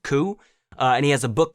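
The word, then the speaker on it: Coué: Autosuggestion was actually created by a man that I want to say is pronounced Ku, and he has a book called Self-Mastery Through Conscious.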